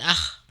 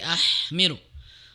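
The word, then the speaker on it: أحمل: Ahmilu ha ya tadi ee seharusnya bersih tidak ada straknya ya. Bukan akh tapi ahmiru lebih dibersihkan ya.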